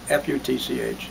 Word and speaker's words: Futch: How are you spelling his name? F-U-T-C-H. He pronounces it Futch.